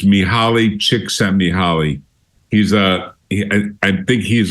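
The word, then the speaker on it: Mihaly Csikszentmihalyi: Chicago he's got a very difficult name to pronounce it's miali chick miali he's a I think he's a Hungarian uh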